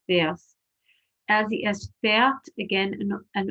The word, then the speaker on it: fährst: We have an umlaut on the A, and we have the umlaut pronunciation, du fährst.